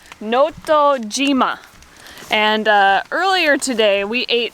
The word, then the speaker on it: Notojima: It says Notojima. Oh, okay, so it's G instead of she, even though they both mean it's a different pronunciation of the same character.